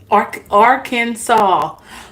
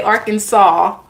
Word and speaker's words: Arkansas: Why they say Arkansas, and it's spelled A-R. I'm sorry, I'm laughing at myself here. It's spelled Arkansas. Yet they pronounce it saw.